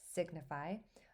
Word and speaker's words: signify: So again, that G is going to be pronounced, that g sound, that g sound is going to be pronounced, signify.